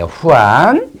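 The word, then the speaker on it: Juan: 영어죠 존정 프랑스어 이거는 후한이 후한 스페인 사람들은이 죄자 같다 발음해요 안이에요 후한이다 같은 소리예요 그다음에 이건 뭘까요 조반니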